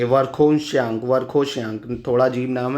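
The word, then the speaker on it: Verkhoyansk: के एच ओ वाई ए एन एस के वर्ख शंक वर्ख शंक थोड़ा अजीब नाम है वर्ख श्यांग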